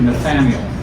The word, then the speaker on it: Nathanael: So we also looked at the idea, we studied Philip's witness to Nathanael, that's how you pronounce it.